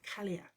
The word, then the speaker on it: Cailleach: talk to you about the kaliak um that's how you pronounce in case you've been wondering all week kaliak and it's rather a good name for rolling your tongue around caliac it sounds quite vicious